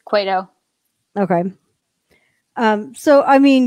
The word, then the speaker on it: Cueto: that i'm kind of like what john it's cueto okay um so i mean you know kershaw